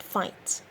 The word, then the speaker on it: fight: honesty campaign while and fight and the answer is we have the h in honesty the g in campaign the h in while and the gh in fight question number five reorder